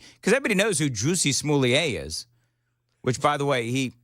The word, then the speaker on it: Smollett: Because we could also, Well, yeah, Juicy Smollett. Smollett, yeah. Juicy Smollett. Do you remember, Johnny, when we were doing the bits on old Jesse Smollett, and I actually could not say his name the right way?